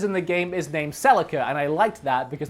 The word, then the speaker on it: Celica: was a 96 Celica back back in Australia we actually pronounced it so Lika I think that's a much cooler way to pronounce it so Lika don't you love how